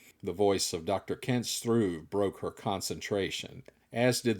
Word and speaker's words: Struve: "It is pronounced Struve, not Struev. One syllable, when you roll the R sound," the scientist replied directly, with a level of discontent.